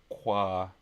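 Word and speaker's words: !Xóõ: And it's a language that starts with an exclamation mark, spelled exclamation mark XOO with some crazy things in there. Pronounced qua.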